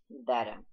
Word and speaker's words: better: that were a bit better, которые были немного лучше. Сразу здесь немножечко про произношение. Американцы в словах, когда в середине слова есть «т» и есть гласные с двух сторон, произносят ближе к звуку «д».